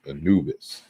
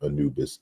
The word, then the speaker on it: Anubis: So toward an etymology of the god Anpu, and that's how we transliterate it in, I guess, modern Egyptology, but the Greeks pronounce the name as Anubis, right?